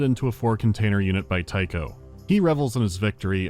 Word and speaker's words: Tycho: Tycho is here and actively devouring the other AI. Someone's after you personally. 1 word, 2 syllables, rhymes with psycho.